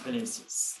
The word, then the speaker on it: Vinicius: I don't know how to pronounce it. Vinicius. Yes, it's Vinicius. You got it right.